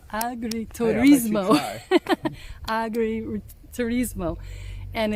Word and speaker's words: agriturismo: Agriturismo. Agriturismo.